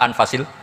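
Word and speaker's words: أنفس: Di sini ditulis anfusil kutub. Lalu saya baca anfasil kutub karena maknanya kitab ter baik. Kalau kitab terbaik bacanya bukan anfus tapi apa? Anfas.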